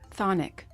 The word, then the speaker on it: chthonic: know what is it it's Sonic the CH is silent why would I was